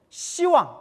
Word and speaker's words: 시왕: 근데 원래는 10왕인데 10왕 하면 이제 뭐 같이 느껴져요? 발음이 욕같이 되니까 십자라는 발음을 시라고 이제 이렇게 발음을 부드럽게 이렇게 바꿔서 시왕이라고 하는 거예요.